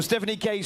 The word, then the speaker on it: Stephanie Case: And it's Stephanie Case. Is that the right pronunciation? Perfect. So Stephanie Case from Canada.